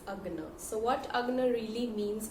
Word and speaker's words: Ajna: Now I was pronouncing this chakra wrong for the whole time. It's not Ajna, it's Agna.